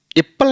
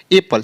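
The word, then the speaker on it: apple: right way होगा जैसे A double P एल ई एप्पल नहीं बोलना है इसको क्या बोलेंगे एपल सिंपल पढ़ो ना आप सिंपल बोलना है एपल एस U double N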